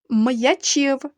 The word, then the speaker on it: м'ячів: кінці ставимо м'який знак м'ячів звук м перед буквою я вимовляємо твердо отже пишемо апостроф і в кінці речення